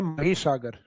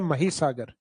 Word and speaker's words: महीसागर: हालांकि English title तो वो माही लगता है अपने को क्योंकि स्पेलिंग वही है माही लेकिन उसका हिंदी प्रोनाउंसिएशन लिया गया है महीसागर। तो अपने को महीसागर ही याद रखना है।